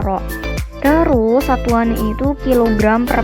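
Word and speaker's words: rho: terus ada massa jenis dibacanya ini lambangnya rok ya bacanya rok terus satuannya itu kg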